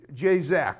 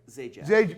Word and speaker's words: Zajac: J. Zac, right? Zajac. Zajac. I like to say it because it rhymes with Pat Zajac of Wheel of Fortune.